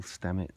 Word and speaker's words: Stamets: Paul Stamets. Paul Stamets. How Yeah, do you he's spell that?